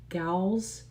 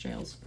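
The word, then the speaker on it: gaols: Nor were any of the captives seen thereafter in the regular ga uh gals jails the regular jails of the nation. I think someone here told me that it's just pronounced jails.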